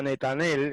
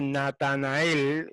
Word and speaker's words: Netanel: Y halló Filipos a Netanel, ese que en otras versiones dice Natanael, esa es una mala lectura del hebreo. En hebreo no dice Natanael, dice Netanel.